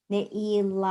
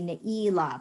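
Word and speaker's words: נעילה: I think that we do a more Ashkenazic kind of pronunciation in shul a lot of times, and we say Neila, but it's Neila, the accent's on the last syllable.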